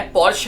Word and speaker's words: Porsche: सो पोर्शे 911 जिसे कि pronounce किया जाता है पोर्शे 911 is a 2-door